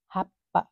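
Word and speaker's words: はっぱ: हामीले अगाडिको अक्षरलाई केही पनि गर्नु पर्दैन, चिसाइचु भन्दा पछाडिको अक्षरलाई चाहिँ हामीले डबल गरेर उच्चारण गर्नुपर्छ। चु चाहिँ कतै पनि उच्चारण गर्नु पर्दैन। जस्तो कि यहाँ हेर्नुहोस् त, यो हा प्लस चु प्लस पा, हा प्लस चिसाइचु प्लस पा गऱ्यो भने हाप्पा हुन्छ।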